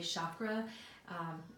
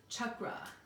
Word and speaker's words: chakra: Sanskrit words and although most people say chakra that's not how do you pronounce it it's chakra Chuck go out if you can roll your R so they're just a